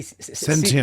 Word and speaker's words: sentient: Well, it's T, not C. Sentient.